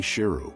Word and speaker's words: Sheru: Saru also learned that he had mispronounced his name all these years. His name was actually Sheru, which means lion.